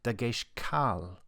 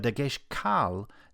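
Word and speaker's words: דגש קל: There is another kind of Dagesh with the Latin name lena, or in Hebrew, Dagesh kal, which means light, or perhaps weak in contrast to the Dagesh chazak. The Dagesh kal doesn't mark doubled letters, but it does flag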